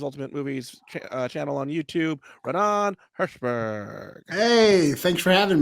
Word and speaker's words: Raanan: Yeah, it's a little too puffy, and Bob, I just want to say it's Raanan, because obviously you were afraid to pronounce the name wrong. That's why you had Michael do it, but it's just Raanan.